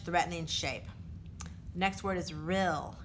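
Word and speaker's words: rille: shape next word is real even though it ends in an E is pronounced real a long narrow valley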